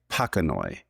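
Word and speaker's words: pachanoi: I've heard people say panoi which in Latin names like there's cactus called pacasirus that are spelled the same way. It is traditional to say the Latin ch like a k like panoi.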